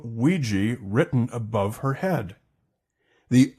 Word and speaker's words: Ouija: wondering the pronunciation well the original game instructions say pronounced Ouija or we jump and today Hasbro goes with Ouija hears from the retro